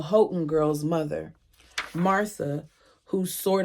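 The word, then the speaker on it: Houghton: Alexa, how do you pronounce H O U G H T O N. I pronounced that Hton. Alexa, stop. Like the H Hotton girl's mother, Martha, who sort of adopted me too.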